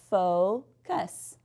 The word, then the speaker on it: focus: If we have the word focus, you can see that that O is going to say its name, focus.